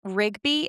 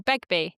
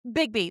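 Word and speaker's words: Begbie: to London and and Rigby, is that how you say it? Um, beg Oh, Begby. Bigby, thank you.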